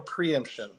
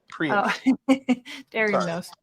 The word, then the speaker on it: preemption: Federal preeemption. I think I said it wrong. Yeah, preemption.